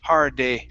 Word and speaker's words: heartache: This word here, instead of heartache, okay, pronounce it flap T. It's Mhm. heartache, heartache.